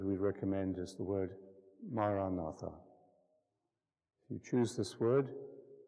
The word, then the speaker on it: Maranatha: word the word we recommend is the word Maranatha if you choose this word Aramaic word that